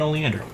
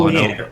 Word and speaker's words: oleander: we've got g1 then oleander i don't know why i put the emphasis in the wrong syllable oleander oh leander girl oleander county all